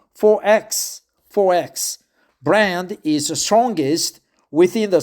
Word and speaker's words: XXXX: The mid-strength XXXX Gold is one of Australia's most popular beers, but the XXX pronounced 4X brand is strongest within the Sunshine State, where it's as cherished as mangoes, Powderfinger, and Welly Lewis.